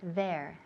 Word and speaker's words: there: There. Con TH, there.